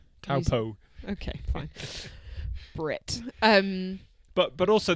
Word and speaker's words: Taupo: raced half distance since Taupua last year in New Zealand. You're going to have to learn how to pronounce Taupo.